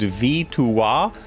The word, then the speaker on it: victoire: In French, victory is pronounced victoire.